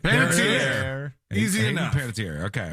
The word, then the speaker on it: Panettiere: I have her saying her own name, which I think is the best possible source we can get on this. So let's see. Hey, I'm Hayden Panettiere. All right. Panettiere.